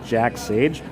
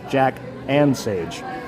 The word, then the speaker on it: Jack and Sage: with some company called Jack Sage. But actually, what I missed was there's a little plus, so it's Jack and Sage. So I've been saying it wrong this whole time.